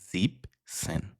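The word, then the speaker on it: siebzehn: তাই 17 equal to জিপ সেন। সি জিবেনের যে ইএন সেটা জিপসেনে নেই।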